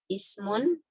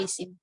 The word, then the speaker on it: ismun: Yang pertama adalah ismun, ya, atau isim. Biasanya disebutnya isim ya kalau kita di mempelajari nahwu tuh. Diucapkan itu isim.